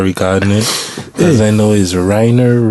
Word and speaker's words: Rainer: joining us I probably should have here to pronounce this blessed are regardless this I know is Reiner Rainer yeah I did the first of all don't